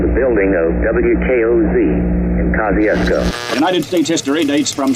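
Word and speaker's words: Kosciusko: of our revolutionary war he spelled it one way we another and it's pronounced kosciuszko and their leaders always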